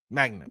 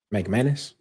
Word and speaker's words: McManus: Magnus. Magnus. Magmminus. Magnus. Okay. McManus. Did I say it right? McManus. McManus. What did I say? Magnus. I said it fast. McManus.